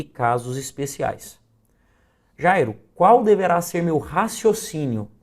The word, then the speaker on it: Jairo: eu chamo esse nome, Jairo. Note que o Jai é a sílaba que mais se destaca. Jai é a sílaba tônica do meu nome.